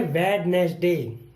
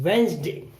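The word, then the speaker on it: Wednesday: इसे पढ़ते हैं वेडनेसडे, जो कि गलत होता है। इसको बोलते हैं वेंसडे, डी नहीं बोलेंगे।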